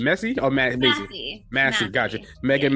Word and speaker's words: Massey: Massey.